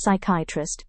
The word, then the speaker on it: psychiatrist: It is pronounced as psychiatrist instead of psychiatrist.